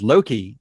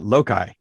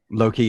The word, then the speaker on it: Loki: such um uh uh it took me a while before i i understood it was loki and not lokai you know right low-key instead of lokai okay i was a